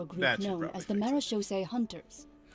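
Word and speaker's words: Marechaussee: group known as The marose Hunters that's how you pronounce that maros I I I have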